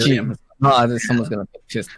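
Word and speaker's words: Ghislaine: Her name is spelled funky, but it's pronounced like Jillian. Miss G. Gillian.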